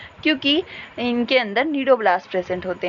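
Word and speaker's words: cnidoblast: ठीक है, सी इज the silent, so these are called as द नीडोब्लास्ट।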